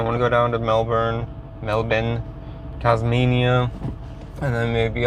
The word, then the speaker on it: Melbourne: you're like Melbourne or that's how you guys pronounce it right it's not Melbourne it's Melbourne uh you in like New South Wales uh